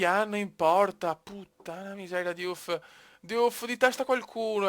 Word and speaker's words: Diouf: Diouf, la pronuncia Diouf, Diouf, Diouf!